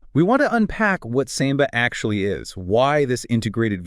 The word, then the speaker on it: SAMBA: We're digging into a synthesis called SAMBA, S-A-M-B-A. Right. Pronounced like the dance.